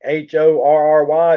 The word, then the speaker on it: Horry: there it's funny because georgetown's right below uh horry county h-o-r-r-y it's pronounced horry county horry county is where myrtle